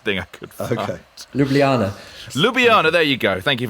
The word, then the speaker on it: Ljubljana: for the closest thing i could okay ljubljana lubiana there you go thank you very much you know me in a pronunciation that's not my favorite thing uh finally